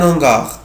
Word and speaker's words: hangar: بكل بساطة الأش في الكلمة دي مش فويل. يعني مش هقول ليز هانغار. هنا الاسم مش هنطقها زد لأن هنا الأش مش هعملها زي الفويل. هنا أقول لي هانغار. ولو حبيت استخدم ارتيكل ديفيني مش هستخدم ال ابوستروف. يعني مش هقول لونغار لا هقول لو هانغار.